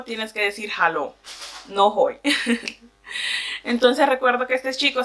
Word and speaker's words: Hoi: Entonces recuerdo que yo iba bajando una de las gradas y de repente se me acerca un chico y me dice Hoi. Hoi, que se escribe H-O-I, en español significa hola.